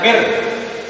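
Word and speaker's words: مِن رَبِّكَ: Berarti nun mati yang bertemu dengan roh. Ini bacaan apa? Bila. Membacanya di mana? Ditarik. Nunnya ditarik. Mir. Bukan min tapi mir.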